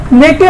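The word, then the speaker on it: neck: आप एन ई के को नेके पढ़ोगे, देखिए यहाँ पे सी आपका साइलेंट होगा, साइलेंट हो रहा है।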